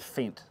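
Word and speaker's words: Fendt: and some of them are how do you pronounce for example these green ones these are fent they're made in Germany they're well they're called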